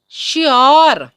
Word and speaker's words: sure: Next देखिए, अगर word में अंतिम तीन अक्षर URE हो तो योर या अर की साउंड होती है और जो ई है वो साइलेंट होता है।